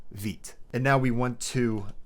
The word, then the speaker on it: Vite: create a Veet project I promise I will miss pronounce that all the time by saying Vite but please bear with me it's pronounced Veet npm create Veet at latest we can